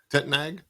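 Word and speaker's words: Tettnang: It's like t e t n a n g. Tetnog. Tetnag. Yeah, you got it.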